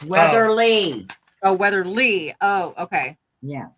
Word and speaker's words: Weatherly: out I hope re put weather Reese it's Weatherly oh Weatherly oh okay yeah how do spell that w a t h r l y